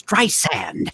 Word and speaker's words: Streisand: She said, "Listen to me. It's Streisand, Streisand, Streisand."